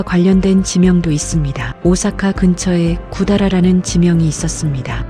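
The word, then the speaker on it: 百済: 오사카 근처에 구다라라는 지명이 있었습니다. 구다라는 백제의 일본식 발음입니다.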